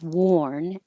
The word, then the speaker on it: worn: The same thing happens with worn, whether it's spelled AR as in I tried to warn you, or OR as in I have worn this many times. It's the same OR with rounded lips. Worn. Keep them rounded as long as possible.